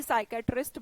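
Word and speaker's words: psychiatrist: एस से कोई भी साइकेट्रिस्ट बनाने की कोशिश ना करें पी के बाद जब एस आता है तो पी साइलेंट रहता है इमोशनल या मेंटल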